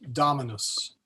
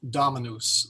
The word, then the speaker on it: Dominus: that's we're coming to really ought to be pronounced Dominus the O is short but nobody at anunciation that I at least my ear will say Dominos they will say Dominos and the reason is is the accent is on that first syllable so English speakers and